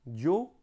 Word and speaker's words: yo: Yo, donc ils prononcent avec yo. Mais c'est pas un je, c'est un yo.